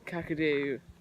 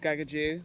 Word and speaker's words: Gagudju: name and he's actually just told us that kakadu should be called Gagaku because that's you know there's going to be